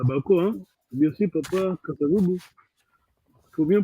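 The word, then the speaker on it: Kasa-Vubu: Bien sûr, Papa Kassavoubou. Il faut bien prononcer là, c'est Papa Kassavoubou.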